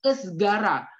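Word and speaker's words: ızgara: Jadi cara membacanya itu esgara.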